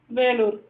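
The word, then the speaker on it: Vellore: So Velur it is in Tamil and in English Vellur. So we have to pronounce it as Velur.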